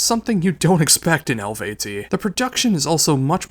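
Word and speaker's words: Eluveitie: Now we have Elvat with Anu.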